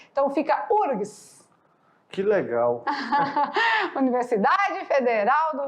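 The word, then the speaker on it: UFRGS: Rio Grande do Sul, mas o F na hora da pronúncia é mudo, não se fala. Então a gente já passa direitinho para o R. Então fica URGS.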